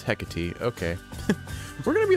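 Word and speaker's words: Hecate: way of the melon thank you head mistress hecky for all your guidance and the compliment okay and it's hecy okay we're going to be learning how to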